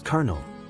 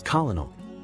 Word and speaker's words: colonel: is usually mispronounced as colonal the word Kel refers to a senior military officer its pronunciation derives from its French and Italian Roots where the L Sound is silent example the colonel addressed